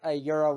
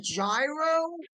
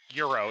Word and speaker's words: gyro: well, okay, you're probably gonna hate me for saying this, but a euro is just a Greek taco. Yes. You Mm, mean a gyro? Euro. It's pronounced Euro.